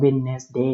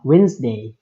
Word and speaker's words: Wednesday: า ไ ป อ อ ก ว่ า Wednesday เ น า ะ ต้ อ ง ว่ า Wednesday เ ว้ น อ อ ก เ สี